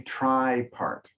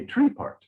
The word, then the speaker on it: tripart: three-part Universe okay and we pronounce that usually try part try part very close maybe in Britain they say tree part but American English we go try part okay so Emily already